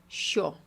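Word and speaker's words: що: Se pronuncia así como, «sho».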